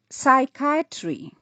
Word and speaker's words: psychiatry: the last word in this list it is pronounced as psychiatry yes the word spelled p s y c